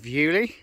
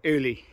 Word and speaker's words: Uley: way well there's the village of yuli or like some of the americans say uli as you can see